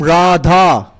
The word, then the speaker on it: Radha: radharani particularly the name Radha right is so powerful that it is said when you just start saying ra it has two syllables Rah and da R da right when